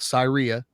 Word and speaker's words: Syria: to let everyone know there's also a place that uh is spelled Syria but it is called Sira yes so like Versailles is